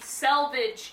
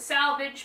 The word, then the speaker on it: selvage: So first off, we're going to be talking about the selvage edge, or as I like to call it, the salvage, because I find the other pronunciation disgusting.